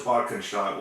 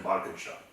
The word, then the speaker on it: Bad Cannstatt: Which was Bad Cannstatt, which was Schwäbisch Gmünd. Huh? You lived in Schwäbisch Gmünd, right? Yeah. And the post I thought was in Bad Cannstatt.